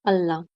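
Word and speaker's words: ulna: Radius and अल्ना। ठीक है, उल्ना नहीं बोलते इसको, अल्ना से प्रोनाउंस, इसकी प्रोनाउंसिएशन है।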